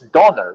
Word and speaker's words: Donner: also the name of thor in german it's donner not tuner donor because that's the right way you pronounce it so when you understand that and